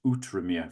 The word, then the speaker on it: Outremer: it's spelt, but I've been corrected on my pronunciation, and it is Outremer for those of you that don't know.